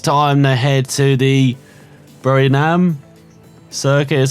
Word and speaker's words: Buriram: And for next time, so I don't forget, it's a bit easier around Thailand, as next time they head to the Buriram circuit, is how you say it, as Mayo